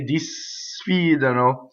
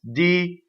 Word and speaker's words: disfidano: Now, notice when I speak, I can say disfidano. When you sing, if I were to separate for the notes, it's disfidano. Single D, single N also.